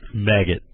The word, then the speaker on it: Maged: His name was Maged, which pronounced maggot.